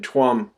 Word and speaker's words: Tuam: and babies in in tuam it's pronounced chom actually in irish tuam tuam ireland now